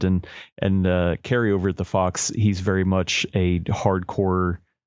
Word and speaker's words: Phawx: But there are YouTubers that cover this thing extensively, and I love their channels like The Fox, which is spelled PHAWX, and then also Retro Game Core, CORPS.